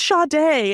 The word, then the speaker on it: Sade: You better learn how to pronounce Sade. I don't. Oh boy. Well, and then she came running back in, and she was like, no. And the white lady was like, did I get something wrong? And she was like, yeah, she was like, time. It's Sade.